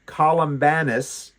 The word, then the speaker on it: Columbanus: the same time, and this is Saint uh Columbanus. So, it's Columba, c o l u m b a, and then n u s at the end of it. So, Columbanus, that's how I'm going to pronounce it, was born 543 in the kingdom